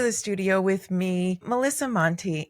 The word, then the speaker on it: Monte: Am I pronouncing that correctly? Let's start there. You are. My last name is made up by my dad. My The rest of my family has Montlbo, so yeah, it's not Monte or anything.